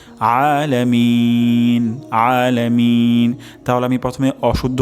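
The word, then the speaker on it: العالمين: এখানে আলামিন হবে অর্থাৎ গলার মাঝখান থেকে উচ্চারণ হবে আলামিন আলামিন তাহলে আমি প্রথমে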